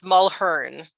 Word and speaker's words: Mulheron: It's Mulheron. So the A, with the A-N, it's like the A is silent. So yeah, I keep reading it out loud. My brain just wants to put in there, Mulheron.